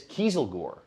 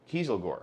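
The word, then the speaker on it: Kieselguhr: keys with the diesel it is Kiesel Gore Kiesel Gore a wonderful uh word that is spelled k-i-e-s-e-l-g-u-h-r take that to your Scrabble law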